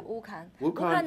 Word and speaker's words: Wukan: of this of this okay wukan am I pronouncing it correctly yeah wukan is the name of a village located in